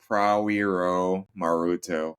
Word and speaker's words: Prawiromaruto: what's the best way to pronounce your last name? it's Prawiromaruto.